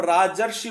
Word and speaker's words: राजर्षि: जब हम राजर्षि बोलते हैं, राज सीधा सा है, और ऋषि जब होता है वो ऋषि नहीं है, वो अर्षि बोला जाता है, राजर्षि, तो अर आ गया यहां पर।